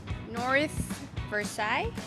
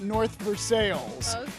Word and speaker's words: North Versailles: right new name same French theme North Versa North verai that's what most people would say to we pronounce it North veres everyone else in America that's French you're right